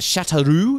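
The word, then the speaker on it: Châteauroux: two three hours Drive South in is it chateroo is that how you Sayo yes I'm told tell you what Ben your pronunciations for words is spot on my name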